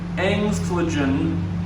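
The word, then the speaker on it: Engstligen: the views down there, the lower tier of Engstlingen Falls.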